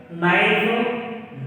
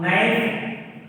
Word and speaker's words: knife: If already we discussed in silent letter, if the K follows N, at the same time K is silenced like this.